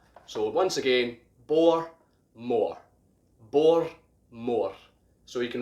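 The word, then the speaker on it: Bowmore: so this is pronounced bore more bore more quite simple quite straightforward but that's how you pronounce it the w basically acts as an r so once again bor more bor more so you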